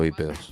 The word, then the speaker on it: bípedos: con acento en la I, con tilde en la I.